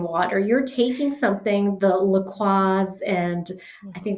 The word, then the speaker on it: LaCroix: You're taking something, the LaCroix, and I think that's how you say it, LaCroix. Yes, LaCroix. Yeah, okay. So you're taking like those brands that watch us both be wrong, and someone is like, it's LaCroix. LaCroix.